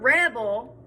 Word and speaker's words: rebel: i say the word rebel where's the stress on that word and by stress i mean what do i put emphasis on rebel i put emphasis on the first part of the word um but now i